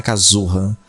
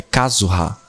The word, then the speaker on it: Kazuha: Eu tenho que pôr a pronúncia no lugar certo, não é Kazuha. É Kazuha.